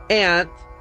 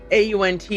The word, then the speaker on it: aunt: And so the the argument that was presented was that you don't say tant, you know, you say taunt or daunt like this is a he was taunting me or this is a daunting project that we're about to embark on, right?